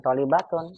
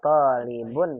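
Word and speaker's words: طالب: Bukan tolibatun, wa talibun wahidun.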